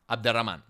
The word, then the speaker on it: Abderramán: Quick note here, his name is pronounced as Abdul Rahman, but I will pronounce it in the Spanish way, Abderrahman.